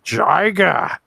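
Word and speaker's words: Jiger: going to take a look at Gamma versus Jiga, as it should be pronounced.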